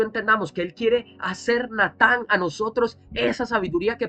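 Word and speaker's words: נתן: El verbo da de dar en hebreo se dice natán. Se escribe n a t. Natán, así como suena.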